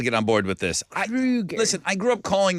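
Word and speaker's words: Kroeger: Okay, we have been saying Chad Kroger's name wrong. It's not like the grocery store chain. Chad Kroger says his name is pronounced like the movie killer Freddy Krueger. It's Krueger, Chad says.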